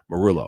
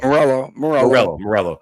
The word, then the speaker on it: Meruelo: How you say it again? Meruelo. Meruelo. Like Tom Morello.